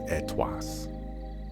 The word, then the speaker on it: ETWS: Why do they pronounce ETWS as Etwas?